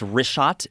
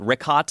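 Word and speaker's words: Richat: couple uh I just want to say it's wrist shot I used to call it rick hot I was mispronouncing it but let me ask you this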